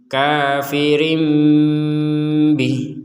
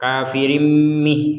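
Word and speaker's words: كافر به: Di sini ada mim kecil. Mim kecil ini sebagai tanda bahwa ini dibacanya seakan-akan kita mengucapkan mim. Kafirim kafirim rim rim. Ternyata setelah itu bukan mim yang kita ucapkan tapi ba. Artinya apa? Mim dibalik menjadi apa? Ba dibalik menjadi mim. Nah, ucapannya. Tapi setelah itu bnya diucapkan. Jadi kafirim bih. Jadi tidak kafirim mih.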